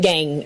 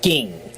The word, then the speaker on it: Gingrich: It's not gang. It's ging. I always hear gang on the news.